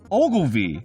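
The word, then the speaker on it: Ogilvie: e Maurice Hedgehog so this is press pause Ogle V that's a real name is that a real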